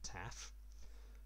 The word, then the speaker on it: tau: is given the greek symbol tau or as the greeks actually pronounce it taf but i'll keep calling it tau because everybody else does